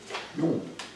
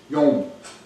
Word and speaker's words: Yom: The word for day in Hebrew is Yom. Yom. Yom. Like Yom Kippur, Yeah.